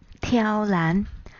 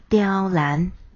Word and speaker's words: 刁難: 刁难念作挑难，又念作刁难。